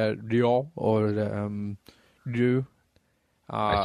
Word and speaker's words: Ryu: Instead of saying Ryu, yeah, I used to say Ryo.